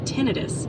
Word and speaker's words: tinnitus: It's pronounced tinnitus for the ringing in the ears.